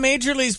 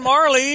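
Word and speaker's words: Majerle: I went to the internet for Dan Majorly's pronunciation, and it was wrong. It's Dan Marley.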